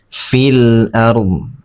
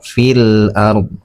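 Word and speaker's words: فِي الْأَرْضِ: Nah, cara membacanya alif lamnya dibaca jelas. Fil ard ya seperti itu. Fil ard.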